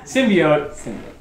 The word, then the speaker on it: symbiote: Symbiote incorrectly. So, it is pronounced symbiote. Symbiote. In the movie, they say, what is it? Symbiote? Symbiote. Symbiote. Symbiote. There's an O in the word.